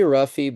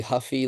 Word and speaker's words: Ruffy: this guy's name yeah I usually say ruffy but because he's Brazilian it's probably Huffy like a bike then it just I